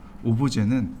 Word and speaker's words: 오브제: 오브제가요. 오브젝트의 프랑스식 발음입니다. 오브젝트라는 단어를 오브젝트는 미국식 발음인 거고 오브제는 프랑스식 발음입니다.